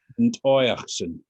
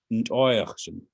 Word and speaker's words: Ntoyachsen: Ntoyachsen. Ntoyachsen. So the emphasis is on the oi part.